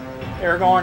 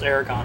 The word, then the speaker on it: Aragorn: the game as uh aragorn and gimli aaron it's that's how it's spelled anyways that was aragon didn't you well yeah you know aragon is e-r-a-g-o-n and that's the dragon rider which i wish they'd